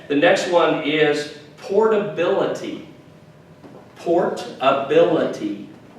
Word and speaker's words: portability: next one is portability port ability portability portability portability and that emphasis is on the bill portability right good very good